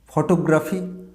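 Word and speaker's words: photography: না, this is নট ফটোগ্রাফি। ফটো, ট ওকারের, টয়ের ওপরে একটা ওকার দিই না, ফটোগ্রাফি। না, এটা ফটো না, এই ট ওকারটে এবার থেকে আমরা ফয়ের ওপরে দেবো, উচ্চারণটা হবে ফটোগ্রাফি।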